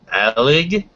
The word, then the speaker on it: Alig: hangout tonight's guest and i hope i'm pronouncing this correctly it's rachel aleg or haley yes i'm impressed i'm from the area